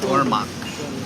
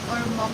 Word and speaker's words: Ormoc: And Ormoc. Ormoc. I know the name. That's yeah. Ormoc. That's part of summer. Made my decision so easy. Thank you, Tom. Yes, thank you very much. Ormoc and Tacloban.